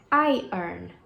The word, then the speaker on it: iron: A pronúncia certa dessa palavra é iron. Iron. Iron. Não é iron. É iron.